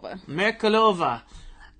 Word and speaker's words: Merkulova: How do you correctly pronounce the last name? Merkulova.